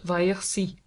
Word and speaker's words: Versailles: Saint-Cloud is 7 miles west of the centre of Paris, and almost 10 miles by rail on the road to Versailles, pronounced Vaillorcy.